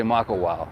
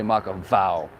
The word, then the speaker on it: Makawao: except if you're saying except if you're saying makawao you still say mako wow you don't say maka vow they'll just look at